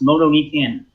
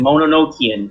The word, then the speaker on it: Mononokean: I've ever seen called the morose moto geek in you still got the pronunciation wrong goddamn pig Mon Enochian there you go and I'm really angry